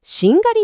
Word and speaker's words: しんがり: なるほど、しりがりという音がやがて発音しやすいようにしんがりに変化したとい